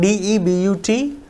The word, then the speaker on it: debut: be resume third one d e b u t though it is Debut yes it is De then e p i t